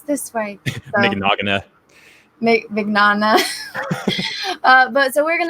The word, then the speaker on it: Mignogna: You had the first time, yeah, Mignogna. Like, Mignogna? Okay. Yeah. I think that it's that one, and then I second guess myself, and I'm like, no, it's this way. So, Mignogna.